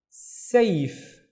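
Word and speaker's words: سيف: Now this becomes safe, safe, and safe is a sword.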